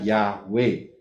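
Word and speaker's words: יהוה: itu mempunyai empat huruf baca dari kanan y he W he bacanya yahwe kemudian sang Putra itu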